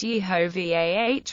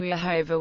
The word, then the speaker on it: Yehovah: He argued that the name is really pronounced Yehovah with the emphasis on Vah. Pronouncing the name Jehovah with the emphasis on Ho would quite simply be a mistake.